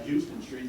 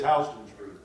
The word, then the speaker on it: Houston Street: ones that we would kind of recognize still pronounced as being Houston it's Houston did you know that did you know him personally I just don't go to New York and you asked for Houston Street to look at you they'll say huh yeah